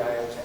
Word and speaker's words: iota: If you do I, that's not I2 and then separately 3, 4. It's like I on the 2, 3, 4 list. Yes, yeah, so this is stranding here again. And it's pronounced iota, by the way.